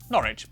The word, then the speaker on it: Norwich: stir leicester worcester gloucester w at the start of the final syllable is silent norwich beric e pronounced r